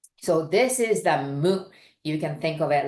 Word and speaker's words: む: three that's a d so this is the mo you can think of it like snails Mo